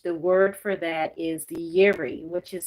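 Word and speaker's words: Yireh: And in the Hebrew language, the word for that is yeri, which is spelled y i r e h.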